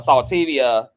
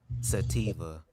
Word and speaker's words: sativa: all thought that it's recreational a saltivia or um how you pronounce it bubs sativa sativa and um sativa is a downer